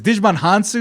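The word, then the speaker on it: Djimon Hounsou: find the actor because digimon hansu is how you pronounce it he's in the game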